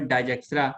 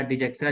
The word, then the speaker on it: Dijkstra: नाम है, ये साइंटिस्ट का नाम है डाइजेक्स्ट्रा या डिजेक्स्ट्रा, जो भी आप बोल सकते हैं, ठीक है, अच्छा ठीक है।